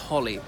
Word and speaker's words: Holyrood: anyway so it's called Holyrood it's spelt with a single L holy but pronounced Holly so what is a